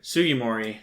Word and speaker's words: Sugimori: tajiri and i can never remember how to pronounce his name sugimori sugimori thank you when they were first creating it